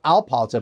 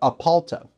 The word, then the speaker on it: Apalta: regenerative organic and biodynamic Winery in aalta not alala but apalta because that's also another one of those words that I mess up all the time they also mentioned that VIN Dat Back to 1889 nende apalta appears to be the modern version of what